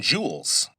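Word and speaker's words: joule: Now, E is measured in jewels. Let me spell that because it sounds like J E W E L S, but it's based on an old scientist's name.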